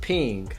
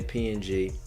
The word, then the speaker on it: PNG: in the image okay a PNG file is pronounced pink I always say PNG but it's pronounced a pink pronounces pink and